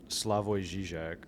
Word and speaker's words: Slavoj Žižek: by Slavoj Žižek, who's like a modern day philosopher and with a runny nose.